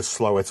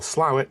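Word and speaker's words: Slaithwaite: absolutely no idea next what about this place SLA weight of course not in fact it's pronounced either slow it or slow it depending on which side of the town you grew up on don't beat yourself up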